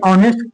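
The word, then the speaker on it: honest: जैसे प्रोनाउंसिएशन में क्या होता है कि जैसे ऑनेस्ट, तो देखिए ऑनेस्ट का एच जो होता है ना, ऑनेस्ट का जो पहला अक्षर जो एच है इसको बोलते हैं ऑनेस्ट, ये साइलेंट होता है।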